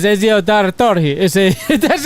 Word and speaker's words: Ezio: The one that you couldn't pronounce right there. Ezio. It says Ezio is a That's how you say you weirdo.